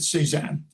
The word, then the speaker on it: C-SAAHN: Well, that stands for Center for the Study of Art, Architecture, History, and Nature, and I pronounce it C-SAAHN.